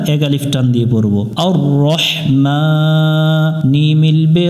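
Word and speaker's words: الرحمن: রাব্বিল আলামিন দ্বিতীয় আয়াত আয়াতের শুরুতে আমরা আলিফ অক্ষর দেখতেছি পরের অক্ষরে তাসদিদ আছে যদি কোন আয়াতের শুরুতে আলিফের উপরে কোন কিছু না থাকে পরের অক্ষরে যদি তাসদিদ থাকে তাহলে আমরা আলিফের উপর মনে মনে জবর ধরে পড়বো আ মিলবে র এর সাথে আর র মিলবে হাই এর সাথে রহ আর রহ আর রহমান মিমের উপরে খাড়া জবর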